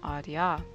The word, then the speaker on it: RDR: leaders' ?] team behind Ku Leuven RDR, pronounced as "radar," which is the institutional